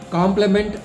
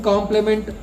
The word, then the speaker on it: complement: see the difference between complement and complement. Both the words are pronounced as the same, but if you look at the spelling, there is just a letter is changed. One complement is COMPLEMENT.